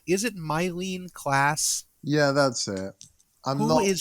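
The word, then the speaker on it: Myleene Klass: Is it Mylene Klass?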